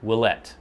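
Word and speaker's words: Ouellette: the pronunciation and then i finally watched a video of him saying his own name he said willette as far as i can tell and somebody else had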